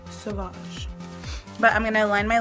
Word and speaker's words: Sauvage: You can't see it, but it actually has an accent mark on there so that you say it like that. Sauvage.